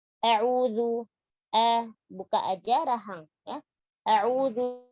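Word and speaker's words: أعوذ: Jangan mengganti zalnya menjadi dal, a'udhu. Atau jadi sa, a'udhu. Atau a'udhu, jadi dha. Atau a'udhu, jadi za. Ya. Jadi a'udhu, huruf zal, ujung lidah menyentuh ujung gigi seri atas.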